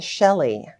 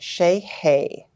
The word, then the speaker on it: Sellyei: say that again and it's like a heavy Accent on the y-e-i it's like that almost like German like hey like like like hey there how are you so it's Shea hey with an emphasis so